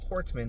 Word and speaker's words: Hortman: So, he killed Melissa Hortman. Hortman, not Hartman.